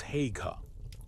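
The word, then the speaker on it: Haigha: His name is Hega. He pronounced it so as to rhyme with mayor.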